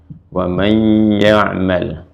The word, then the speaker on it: وَمَنْ يَعْمَلْ: Terus ketemu dengan ya, jadi idgham. Wa may dibacanya ya'mal. Wa may ya'mal.